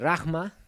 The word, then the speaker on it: Rahma: Y este Rahma, se escribe Rehma, este Rahma es un amor receptivo.